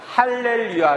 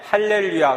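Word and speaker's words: Hallelujah: 화 노소 복음 하루 속에 나오는 알렌 위하는 할렐루야 를 의미합니다 할렐루야 는 히브리어 하로 힐 외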